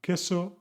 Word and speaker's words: queso: The QU always sounds like a K, K, followed by A, queso, arquitecto. So this is the rule